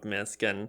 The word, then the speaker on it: Misc: Because I think, I'd say the way I would classify Misc is like a 3D, is Misc the right way to say it?